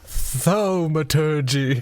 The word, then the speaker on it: thaumaturgy: Jingus Kringus pronounces it thaumaturgy.